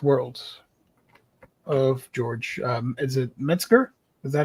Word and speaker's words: Metzger: Is it Metzger? Is that how you pronounce it?